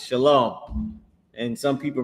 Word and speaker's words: shalom: It's shalom. And some people pronounce it wrong and they say shalawam or whatever but they pronouncing it wrong but that's the word it's shalom.